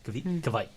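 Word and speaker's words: kveik: Kvike, right? Like, Rhymes with bike.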